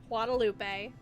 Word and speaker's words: Guadalupe: Guadalupe.